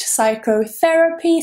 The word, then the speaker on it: psychotherapy: For example, I'm a psychologist, but it's not C, it is psi. That beginning, PSY, is always psi in English. Psychology, psychotherapist, psychotherapy, psychologist, they're all with psi.